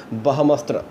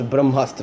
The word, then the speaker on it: Brahmastra: And the next we are talking about that says that Karan's frames with Big B Ranbir Alia tight as in Bahamastra. Sorry, that is Brahmastra, I think.